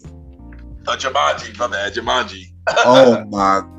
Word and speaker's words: Jumanji: Yo, Jumanji. That's how you pronounce it. Jumanji, my bad, Jumanji.